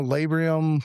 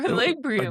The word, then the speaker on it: labrum: Tore my labrum, my rotator cuff, and detached my bicep tendon. Is it labrum or labrium?